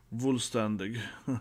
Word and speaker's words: Vollständig: own Bankai version right full standing as it pronounced full standing yeah full standig a bit f f sound full standing kind like fun you know v o n Fun you know now it's